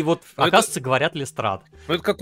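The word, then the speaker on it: Lestrade: И вот, оказывается, говорят Лестрад.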